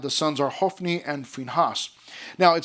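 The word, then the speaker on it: Phinehas: If you want to pronounce it Phineas, that's okay. But it's actually is pronounced Finhas.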